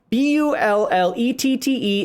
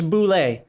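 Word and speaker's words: bullette: and so forth there are rules to english b-u-l-l-e-t-t-e is never ever ever in any form of english boule it's either bullet because you're pronouncing it or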